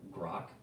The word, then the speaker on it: Grok: I think it's pronounced Grok on X, which is their AI.